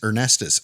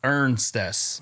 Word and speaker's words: Ernstes: I've heard Ernestes, I Ernst. thought there was another E in there too. No, it is. Ernstes. Yep, pronounce exactly how it's spelled. Ernstes.